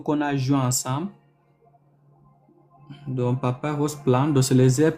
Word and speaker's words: papyrus: Donc en anglais c'est Papa Ros.